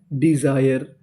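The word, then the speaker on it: desire: नीचे वाली meaning D ई डी एस आई ई आर E Jair. डिजायर डिजायर।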